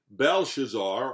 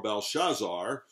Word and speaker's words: Belshazzar: the medo-persian army king belshazzar or balshazar again either way is proper to pronounce it now rules over babylon